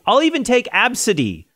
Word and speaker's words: Abcde: Tracy Redford told us, her father's name is ABCD, which is pronounced Absidy. If you saw ABCDE, how would you pronounce that? Absidy.